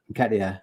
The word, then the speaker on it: Nketiah: Because we know my pronunciation is shocking. Go on. Nketiah.